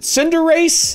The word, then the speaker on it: Cinderace: Galarian Zigzagoon, Gossifleur, Marnie, what a babe, and is it Cinderace?